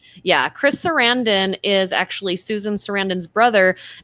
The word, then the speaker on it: Sarandon: the composed parts then you had a chris sanderson there's am i pronouncing that right serenda yeah serendon anyways chris clarendon i think is i'm butchering it but anyways